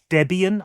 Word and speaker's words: Debian: dArkOS, however, is built on a thing called Debian, I think you'd pronounce it, and this should make the operating system more customizable.